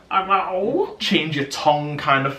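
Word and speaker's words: 肉: It's spelled R-O-U, but you pronounce it as roll. Roll.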